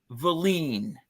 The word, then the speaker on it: Wallin: Otto, Wallin, but it's pronounced Valine.